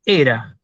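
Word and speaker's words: Ἥρα: esposa de zeus y esto se lee era precisamente era perdón head ese espíritu áspero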